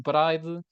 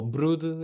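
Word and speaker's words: Bryde: anã, a baleia de bride ou brude, é assim que se devia pronunciar, e a baleia comum.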